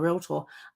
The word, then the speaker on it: realtor: can sorry realtor your realtor um I got to remember it's only two syllables not three case slap my hand